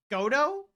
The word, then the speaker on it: Godot: it got it godo godo it's a reference to a character and the t is silent is it godo okay foreign think French